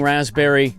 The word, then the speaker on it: raspberry: I was mispronouncing raspberry. No, the P is always The P is silent.